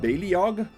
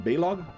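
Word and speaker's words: Baleog: kid, I would always call him Baliog. But I think I heard a trailer of them in the Heroes of the Storm DLC where Eric called him Balog. So I'm assuming that's the correct pronunciation.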